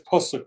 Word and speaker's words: pasuk: It says pasuk, not puck.